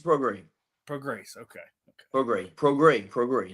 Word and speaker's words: Prograis: Is it Regis Prograis? Nope, you butchered it. Prograis. Regis Prograis.